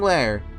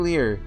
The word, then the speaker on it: Lear: No, King Lair. King Lear is uh I know that Shakespeare.